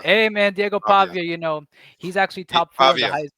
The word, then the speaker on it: Pavia: He said um Diego Pavilla for Heisman. Pavilla. Pavia. Hey man, Diego Pavia.